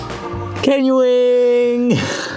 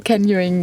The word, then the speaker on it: canyoning: Canyoning!